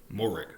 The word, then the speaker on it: Moehrig: So, Trevon Moehrig, Now, I've heard Merrig said, but I don't believe that would be how that's pronounced, seeing as how it's M-O-E. So, Morig is how I'm going to say it until I'm corrected by someone